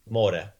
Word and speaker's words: more: more more right yeah more more so we have the Adriatic Sea and the way you pronounce that in creation you say more yeah Transco more right